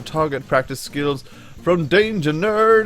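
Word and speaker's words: Knerd: practice skills from Danger Nerd. It's Danger K-N-E-R-D. The K is silent like knife or knife or knob or knight.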